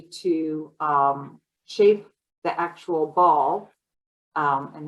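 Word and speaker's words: boule: um shape the actual ball um and they spell that b-o-u-l-e but I think it's pronounced ball and what I do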